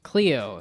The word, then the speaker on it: Cleo: the what is it Chloe Abrams right AB okay yes Cleo not Chloe Cleo I don't know why